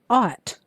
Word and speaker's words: ought: Number 2, ought. Ought. Aw, t. Now remember, you're going to have 2 consonants in this word that are silent. So you've got the sound aw, and then 2 consonants that are silent, and then t.